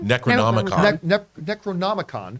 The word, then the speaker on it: Necronomicon: They stumble across the I always mispronounce or try to say out loud. Necronomicon? Necronomicon.